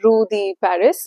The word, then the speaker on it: Rue de Paris: The book is the mystery bakery on Rudy Paris or Buri as it is pronounced as.